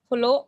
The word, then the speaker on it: follow: और follow नहीं, follow. Follow. दो है, दोनों का साउंड आना चाहिए.